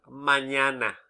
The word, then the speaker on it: mañana: Imagine the word mañana, for example. Where is the stress? Mañana. Second syllable, isn't it?